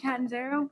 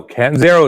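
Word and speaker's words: Catanzaro: was so I was I just pronounce it Kat and zero my family does but it no Kat and zero is good and I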